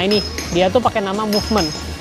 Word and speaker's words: Movement: Nah ini dia tuh pakai nama Movement, dibacanya Movement ya, bukan Mumet. Banyak yang bilang ini Mumet nih.